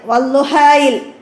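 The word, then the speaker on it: والضحى: അതൊക്കെ മനസ്സിലാക്കുക അടുത്തത് 14 വള്ളുഹായിൽ അലിഫ് ലാമിന്റെ ശബ്ദം ഉച്ചാരണത്തിൽ വരാതിരിക്കുന്നത് വള്ളുഹ എന്നതിൽ അലിഫ് ലാം നമ്മൾ ഉച്ചരിക്കൂല എന്താണ് അതെന്താണ് ശംസിയായ അക്ഷരമാണ് അശംസു വള്ളുഹാ എന്നതൊക്കെ നമ്മൾ ശംസിയായ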